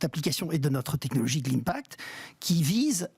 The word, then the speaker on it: Glimpact: Vous êtes président de Glimpact, je le prononce correctement. Très bien, comme Global Impact.